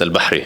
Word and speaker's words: Al: name so can you except except that I pronounce it Al that's how was supposed to be said okay